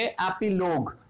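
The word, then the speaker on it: epilogue: फिर हमारे पास देखो जी के बाद क्या दिया हुआ है, यू ई, फिर ये साइलेंट रह जाएगा, तो इसको हम क्या बोलेंगे, एपीलोग, क्योंकि जी हमारा ग की साउंड देगा।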